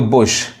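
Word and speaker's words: bush: bull पढ़ेंगे full यानी कुछ वर्ड्स में यू को यू पढ़ते हैं उ पढ़ते हैं फुल पुश पुल अब देखिए इसको बुश अब इसको बस नहीं कहेंगे बस का यह क्या स्पेलिंग है बी यू एस यह है बस और यह है बुश मतलब झाड़ी जो होता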